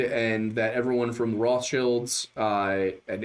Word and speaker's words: Rothschild: that everyone from the Rothschilds uh and it's Rothchild. That is the pronunciation of that word. That's the German pronunciation.